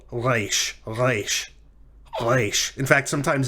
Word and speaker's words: reish: So I would encourage you to try to work on pronouncing it in the back of your throat, like reish, reish.